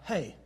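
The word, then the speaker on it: ה: We pronounce the name of this letter as He, or Hey.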